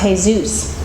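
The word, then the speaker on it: Jesús: he'd said whose name was spelled Jesus it's pronounced hey-zeus he said I know I thought but did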